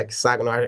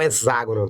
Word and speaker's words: hexágono: Já puxa ali um pouquinho para famoso hexágono, a pronúncia hexágono me incomoda muito. É o hexágono, tá?